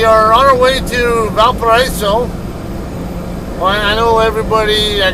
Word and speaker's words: Valparaiso: Well, I know everybody, I guess, probably calls it Valparaiso. But I believe it's a French word. And according to my wife, who does speak French, she says the French way to pronounce it would be Valparaiso.